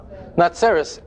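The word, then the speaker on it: נצרת: But how do you say the city of Nazareth in Hebrew? Natzeres.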